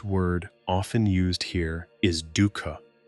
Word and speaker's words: dukkha: One Buddhist word often used here is dukkha, pronounced dukkha.